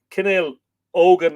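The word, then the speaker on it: Cenél nEógain: family group O O it's spelled n e o father g a i n uh canel oan if you like but you'd Len it at the G with a h Owen um which is the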